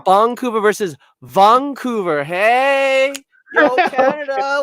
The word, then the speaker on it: Vancouver: See, no, so that is interesting because, yeah, why is it pronounced a B like in katakana instead of a V, which is written in English?